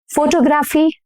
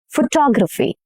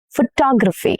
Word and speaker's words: photography: How do you pronounce this word? Determine? No, incorrect. Determine. Determine. Okay, this word. Photography? Photography? No. Photography. Photography.